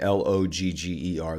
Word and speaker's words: lager: Yeah, that's lager. That is what I'm saying. Logger. That's exactly how we pronounce it here in the States. Logger, like a woodsman chopping down trees.